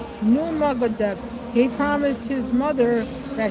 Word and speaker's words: Nurmagomedov: Uh, Korea, how do you pronounce his name? Nurmagomedov.